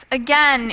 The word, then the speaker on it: again: the different one so the others are a dip thong rain we have that a a sound but a again is usually just with an sort of an e sound a right thank you